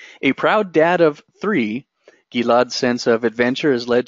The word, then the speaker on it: Gilad: so much for tuning in my name is pronounced gila Jeff it I'm the founder and CEO of